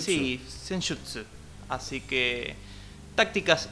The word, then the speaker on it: Senjutsu: Senjutsu se pronuncia. Senjutsu. Sí, Senjutsu.